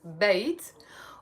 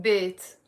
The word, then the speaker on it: بيت: in Arabic the word bait can mean either house or home okay and in the Lebanese dialect we pronounce it in two ways we can pronounce it bit or we can pronounce it bit it's the same bit